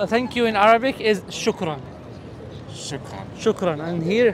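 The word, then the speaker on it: شكرا: And how you pronounce it? Oh, shukran. Shukran.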